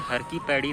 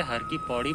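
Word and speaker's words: हर की पैड़ी: और इसी को आज हरकी पैड़ी नाम से जाना जाता है कई लोग इसे हर की पौडी बोलते हैं किंतु इसको सही उच्चारण है तू हरकी पैड़ी कहा जाता है यदि हरिद्वार की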